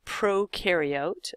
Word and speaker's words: prokaryote: them fall into a type of cell called prokaryote, and that's how to pronounce this word here, and others fall into